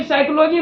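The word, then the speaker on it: psychology: meaning बोलते हैं क्योंकि साइकोलॉजी में जो वर्ड मीनिंग होता है पी एस वा सी एच ओ एल ओ जी वाई साइकोलॉजी लेकिन यहां पी जो होता है यह पी साइलेंट होता है इसलिए यहां पे पी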